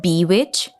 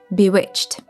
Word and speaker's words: bewitched: It's not bewitched, not bewitched, it's bewitched with the last syllable being unvoiced. You do this by simply adding a t sound after ch.